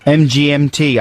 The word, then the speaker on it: MGMT: MGMT, apparently it is MGMT rather than Management or The Management, and they're from America.